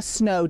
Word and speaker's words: snow: What I really want you to hear is the long O sound in the word snow. I often hear non-native speakers shorten it or change it to more of an ah sound, like snaw.